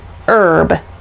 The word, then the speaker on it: herb: pronounce the h and herb that we use in cooking even though it starts with a consonant h we don't pronounce it english is weird all